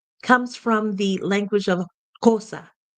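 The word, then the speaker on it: Xhosa: from the language of kosa kosa is how it's pronounced in the southern part of Africa and BOS is a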